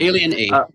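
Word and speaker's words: Aliena: Uh Jack Jackson and um was it uh Alana Alien? Alien. It is the pronunciation. Yeah. Yeah. Alen. Alien A.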